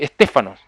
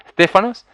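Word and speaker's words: στέφανος: laureles y guirnalda está hablando de eso si stefanos así tenemos como el hijo de nuestra emoción stefanos bueno esa es la pronunciación del vocablo que significa esa corona corona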